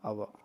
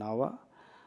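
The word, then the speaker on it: hour: Example பாருங்கள், ஆன் அவா, ஹவர்னு சொல்ல மாட்டோம், அவா. ஆன் அவா, ஆன் ஆனஸ்ட் மேன், ஹானஸ்ட் மேன்னு சொல்ல மாட்டோம், ஆனஸ்ட் மேன்.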